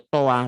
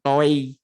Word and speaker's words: toi: Bacanya toa bukan toi.